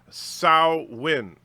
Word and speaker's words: Samhain: is pronounced jerseys or Samhain as pronounced sow win so win I've never heard that